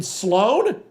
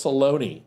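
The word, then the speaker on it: Sloane: opens up the chapter it's SL o n e and I'm like you mean Sloan she's like oh is that how you say it I thought it was Salone all right get out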